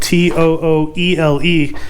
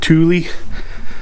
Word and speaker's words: Tooele: map to willis spelt t-o-o-e-l-e a lot of people that come here to utah pronounce it thule but all those locals we call it tooele so damn is that